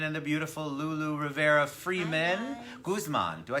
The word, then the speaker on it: Guzman: Guzman. Do I say it right? Guzman.